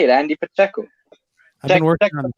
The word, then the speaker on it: Pacheco: That's exactly how you say it, Andy Pacheco.